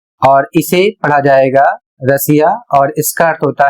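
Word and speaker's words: Russia: यहां पर ध्यान देना है कि एस या डबल एस के आगे यदि आई ए या आई ओ एन आता है तो आपको पढ़ना है श जैसे यहां पर लिखा है उदाहरण के माध्यम से समझिए आर U double S आई ए और इसे पढ़ा जाएगा रशिया यहां पर देख सकते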